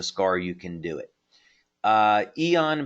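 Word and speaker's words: Aeon: Eon, by the way, is spelled A-E-O-N, and yes, that's a patch that you can find on our website.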